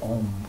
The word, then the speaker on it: AUM: yoga the doctor Buddhism all talking about ohm which every monitor starts with spell it philosophically correctly AUM those are three letters a basically as your